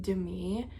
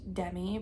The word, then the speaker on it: Demi: of Secret Lives, and it's actually pronounced Demi because I think I started listening to the audiobook a little bit too. Or no, it's because they rhymed something in it with her name, and the only way the rhyme works is that's how you know her name is actually pronounced Demi, like Demi Lovato.